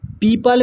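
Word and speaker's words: people: यहां पर लिखा हुआ है पीपल। पीपल में जो है ओ साइलेंट है।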